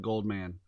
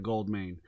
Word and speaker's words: Goldmain: Jeremiah Goldmain, which I have noticed that a lot of people say his name wrong. Yep. It's always Goldman, right? The past 2 promos, I think someone has said Goldman instead of Goldmain.